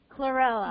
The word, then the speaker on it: chlorella: l here r e l l a clella clella yes correct thank you so much Corella okay